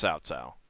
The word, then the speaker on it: Cao Cao: I know it's Cao Cao. And it's not really an S, it's a TS. But most people who have never heard it pronounced properly are going to see that and pronounce it Cow Cow.